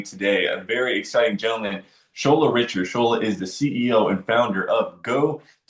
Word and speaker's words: Shola: So I'm like, Shola Cola. Just remember that.